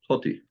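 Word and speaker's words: ὅτι: Oh, So he because thinks Jaden, this- don't you pronounce like logos or pronounce that think like hati. ah? Yeah. No. It's Hoti.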